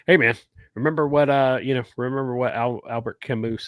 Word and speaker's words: Camus: Hey, man, remember what Albert Camus said? The good of the people is always the alibi of tyrants. You said it right, Camus.